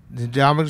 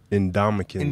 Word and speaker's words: Ndamukong: All right, we welcome on Ndamukong Suh. Can we just do like the first 5 minutes of us trying to pronounce your name?